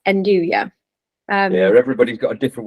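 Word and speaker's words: 'nduja: if you don't know what andouja is, it's spelt Enduja, like with a J at the end, isn't it? And Yep. some of the Italians fondly call it Naduja, don't they? Just as a funny way of saying it. But yeah, it's andouja.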